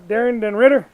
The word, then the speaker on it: Daren Ritter: We're shooting season 13 of Cooking on the Disket, and we got our awesome guest chef, Chef Daren Ritter.